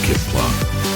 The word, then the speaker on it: CPLA: organized ized by the cpla she pronounced Kip plop the Christian people's Liberation